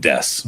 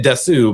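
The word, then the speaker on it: です: exception when you're talking about like des, right? You can you can still say desu but you know it's it's not super common. So there's very few exceptions to that. So this letter is pronounced this way and that's it.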